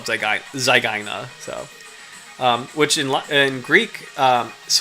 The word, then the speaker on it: zygaena: It's closer to the second one, but I say Sphyrna zygaena, just because like the Y and the AE in Latin, they do sound kind of similar to that.